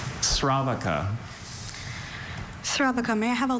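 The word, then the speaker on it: sravaka: Sravaca. Shravaka. Okay.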